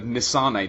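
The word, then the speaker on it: N. Sane: So it's Crash Bandicoot, the Nisane trilogy.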